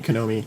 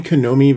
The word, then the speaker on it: Konami: Contra thank you man AKA any actually any Konomi um or or there was also what is it Gladius yeah any any any Konomi video game you could use that code and